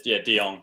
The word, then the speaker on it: De Jonge: It's DeYoung. You said it right.